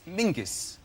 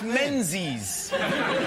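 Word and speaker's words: Menzies: His name is Mingus. Mingus. Yes. Gos. Yeah. Ming. Yeah. But it's pronounced it's it's spelled M E N Z I S.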